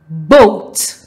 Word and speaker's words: boat: is silent for example boat there are two vowels o and a now it will take the long vowel sound o however the a will